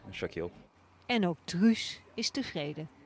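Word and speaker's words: Shaquille: En dat spreek je uit als? Shakil.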